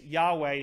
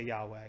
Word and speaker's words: Yahweh: tittle that's the yod they pronounce it like a y so that being the case yahweh just is more accurate it's not a sin